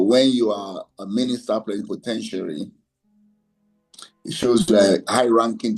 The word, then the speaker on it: plenipotentiary: It is pronounced plenipotentiary. Plenty, po, ten, sharing, like tertiary.